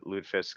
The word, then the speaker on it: lutefisk: a disease no well you'll hear it called lutefisk a lot but lutefisk because I guess the more proper pronunciation but it's um I'll probably